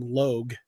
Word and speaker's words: Logue: But I described him differently because I wasn't going to actually use that exact image, but I liked the name Logue because it rhymes with rogue.